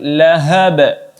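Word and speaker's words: لهب: Kemudian yang terakhir lahab. Ya, ha-hanya besar. Kemudian diakhiri dengan qalqalah wusta atau qalqalah sedang. Cara membacanya cukup dipantulkan sedikit saja. Lahab. Ya, ini cara membaca qalqalah wusta.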